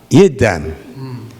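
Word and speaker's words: yidam: Did I pronounce it wrong? He said yam. Uh and you practice the yid ydam. Yiddam.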